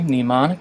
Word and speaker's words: mnemonic: Silly mnemonic, but it may work for you. Mnemonic, by the way, is not mnemonic, and it starts with an M. It's of Greek origin, and it's spelled M-N-E-M-O-N-I-C.